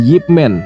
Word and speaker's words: Ip Man: asli nama dia ya jadi Ipman adalah pelafalan internasional yang resmi karena di dalam paspor guru Ip juga namanya Ipman ada juga yang manggil yipman Nah itu cuma sebutan aja ya guys panggilan aja ya guru Yip gitu Begitu